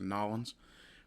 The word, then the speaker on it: New Orleans: Um, but this is a shot from New Orleans. Uh, and I will refer to it as New Orleans. U, if I'm pronouncing it wrong, I know folk in Louisiana like to hear it pronounced Nollins, but I can't do